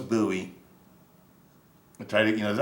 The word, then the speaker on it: Bowie: to be buoy Bowie Bowie I think is like the French way to say it and he and and